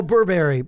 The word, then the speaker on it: Burberry: and t-shirts are all clothing Google that they Burberry Oh Burberry okay okay yes that's correct correct pronunciation right I'm also not a fashion person